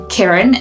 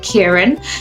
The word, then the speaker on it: Kiran: My parents couldn't pronounce the ear sound, so they kept saying Kiran instead of Kiran.